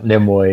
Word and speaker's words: Nimue: Yeah, Nimue, yeah.